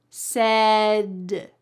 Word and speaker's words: said: Listen to the T at the end of set. Said it. Said. Said. It sounds like a D. And in fact, that's how we pronounce it. When there is a T surrounded by vowels, in American English, that T becomes a D.